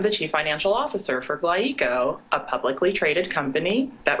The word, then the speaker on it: GlyEco: Is it pronounced Glyeco or Glyeco? Well, it's Glyeco, and this is basically a marriage of two words, glycol and ecology.